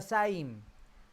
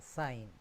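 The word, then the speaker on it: זַיִן: Entonces, la siguiente es la saim. La pronunciamos como nuestra Z, eso no hay ningún problema. Z, saim.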